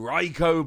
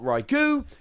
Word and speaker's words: Raikou: So let's start off with a new Raikou Blister. Raikou being one of the most commonly mispronounced Pokemon. It's not Raikou, it's not Raikou, it is in fact Raikou.